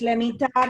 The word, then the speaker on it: Lemitar: there no before green it's lemitar it's let me tell not hatch i just